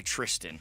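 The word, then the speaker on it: Thriston: It's he likes to go by Tristan. Yeah. Oh, is it Tristan? You know what? They don't have a H but it's spelled like Thirstston. There used to be Thristan.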